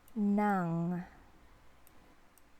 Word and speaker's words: ng: Pakiabot po ng, it is pronounced as like this one, nang, like that.